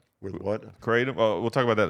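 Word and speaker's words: kratom: it what's the word it's called katum it's spelled with a K oh maybe c k r a t o m yeah it's uh it's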